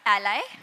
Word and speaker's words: a11y: So it can be pronounced as A11Y, A11Y, or ally, or you can just call it accessibility.